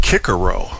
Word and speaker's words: Cicero: Technically, Cicero should be pronounced Kikero, but only douchebags who say Kabul for Kabul and Mr. Qatar for Qatar go around talking that way.